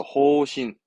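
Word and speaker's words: 方針: 침 발음은 신가요? 그래서 호신, 호신.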